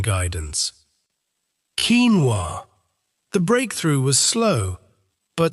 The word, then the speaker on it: quinoa: by confusion and the packaging had to include pronunciation guidance. Keen-wah.